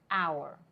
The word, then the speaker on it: hour: มี silent hge อยู่ ก็ คือ มัน มี เสียง H ที่ ไม่ ออก เสียง มัน ก็ เลย อ่าน ว่า hour แล้ว ก็ เลย กลาย